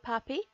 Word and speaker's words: Papi: I mean, one, his name rhymes with okapi, Papi the okapi, but he's